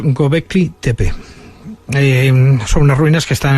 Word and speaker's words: Göbekli Tepe: Sí, esto se pronuncia más o menos Göbekli Tepe.